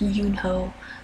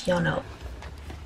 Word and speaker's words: Yeonho: I know that I was saying Yeonho's name wrong. I know it's not pronounced Yoonho like from AET, so I know his name is Yeonho.